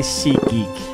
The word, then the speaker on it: SeatGeek: episode is sponsored by sea geek last time i said see geek i said it's so quick that i was saying sikhi it sounded like i said seek but i'm going to pronounce